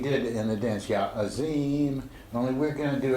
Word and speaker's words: Azim: Azim, we did in the dance, yeah, Azim, only we're going to do it with the classical Arabic pronunciation with the Z is a DH sound.